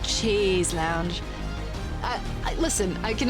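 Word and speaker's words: chaise longue: Pronounce Shea's lounge. More like cha lounge.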